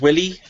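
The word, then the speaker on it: Wily: let's see if you're right I believe it's pronounced Willie oh yes it's confirmed by the spelling Dr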